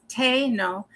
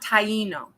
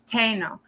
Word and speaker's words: Taino: And this is really, so I've been told by those who are heavily connected that the correct pronunciation is Taino, not Taino. It's Taino.